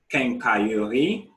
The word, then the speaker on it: quincaillerie: Quincaillerie, pharmacie, station-service, coiffeur or salon de coiffure, and then musée.